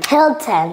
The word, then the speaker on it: Hilton: we pronounce this Cody Hilton yeah Hilton once again the Hilton Hotel the Hilton Hotel hill hill short short Eye short can I bar your